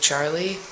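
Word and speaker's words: Jarli: like tom cruise's daughter his name was charlie but it was spelled with a j but you say it like a cha so it was like i think it was he said j-a-r-l-i so it's like charlie and they had this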